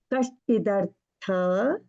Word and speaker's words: कश्चिदर्थ: I'm giving that little bit of pause because so that you can pronounce, but there is no ha sound there, no half ha also. Kashchidartha, Kashchidarthavya, you can say.